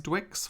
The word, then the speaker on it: DWX: I mean, DWX, I have been pronouncing you as Dwix for like over a year now.